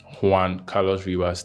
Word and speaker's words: Juan Carlos Ribas: How do you say your name is pronounced again? Juan. J Ribas. Juan. You want the Juan Carlos Ribas. Juan Carlos Ribas.